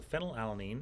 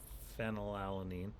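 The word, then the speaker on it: phenylalanine: F for phenol alanine. That's the single letter amino acid code. It is actually spelled with a PH that makes an F sound.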